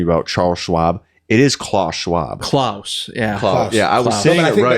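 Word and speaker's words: Klaus Schwab: was correcting me about Charles Schwab it is Claus Schwab clus yeah I I think isn't the English pronunciation of it Char I think it's Charles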